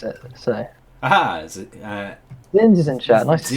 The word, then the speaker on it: Zsinj: Yeah, Zsinj. Thought so. Okay, wicked. Zsinj. That makes sense. Yeah, just pronouncing things weird.